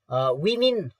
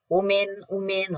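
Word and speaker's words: women: विश्वास गरिएको छ कि विमेन यसको उच्चारण उमेन होइन है विमेन भन्नुपर्छ विमेन डु नट ह्याभ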